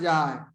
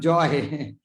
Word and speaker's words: jai: jahe, by which Abhiman jai. That Abhiman, vanity, false conception. Jai means go away. Jai and joy is maybe English pronunciation. Joy, not a joy.